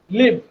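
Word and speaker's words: live: বলে আচ্ছা মনে রাখবেন এটা যখন নাউন হয় তখন হচ্ছে লাইভ হয় আর যখন ভার্ব হয়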